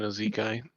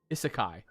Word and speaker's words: isekai: This isn't Ezekai. I don't. What are you saying? Ezekai? I think I'm probably mispronouncing it. You're an anime character, Neebles. Isekai. That's it.